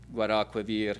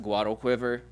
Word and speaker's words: Guadalquivir: anglicizing pronunciations, and so instead of like Guadalquivir, you can tell he's wanting you to say like Guadalquiver because the way he's rhyming, and the way the meter works and how the rhyme works.